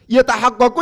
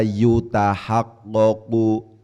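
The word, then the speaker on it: يتحقق: Tidak dibaca yutahaqqaqu. Karena yatahaqqaqu bacaannya, karena di bacaannya tidak diikutkan pada kaidah majhul tapi dimaklumkan, maka al-i'jaz di situ menjadi fa'il.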